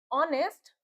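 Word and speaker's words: honest: ही बताया था मैंने कि जो आवर में एच जो होता है वो साइलेंट होता है। ऑनेस्ट में भी हमारा एच हमारा साइलेंट होता है। ऑनर में भी हमारा एच साइलेंट होता है। हम इसको आवर ऑनेस्ट और ऑनर पढ़ते हैं।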